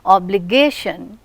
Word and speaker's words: obligation: Obligation, you listen to this, how many syllables are there? 4 syllables are there. And which one is receiving stress? The third one, obligation. or said without any emphasis.